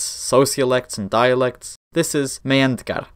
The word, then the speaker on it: Meyhendgar: This is Meyhendgar, the H is silent, and we are not going to go into all that in this video.